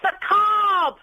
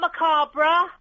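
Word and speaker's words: macabre: It's macab, not macabra. No, it's macabra. Macab. You don't pronounce the R.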